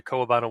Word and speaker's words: Kowabana: I did another deep dive into Kowabana website, which apparently is actually how you say it based on the podcast that they have.